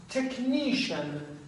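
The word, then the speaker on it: technician: این تلفظ های سیان دوستان همون تلفظ های فرانسوی همچه کلماتی هستن در واقعی که به CIAN ختم میشن.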